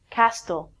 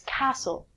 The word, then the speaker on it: castle: hear a lot of people say castell it's not castell its castle a castle is a